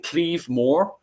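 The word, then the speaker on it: claíomh mór: me on this one, the Cleave Moor, as is pronounced in Irish, and then which is, if you guys are turning around and saying, is that Claymore in the Anglo version?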